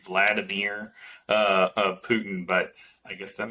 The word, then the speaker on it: Vladimir: Vladimir Putin's name like Vladimir? Vladimir? Vladimir? Yeah, Judy Twigg 5:19 that's the Russian pronounciation.